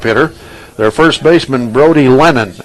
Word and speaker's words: Lenon: their first baseman Brody Lennon l n o n but pronounced just like John lenon or the lenon sisters probably don't know who